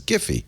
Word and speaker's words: Giphy: Because that's a company name. And the guy who founded it says it's Giphy.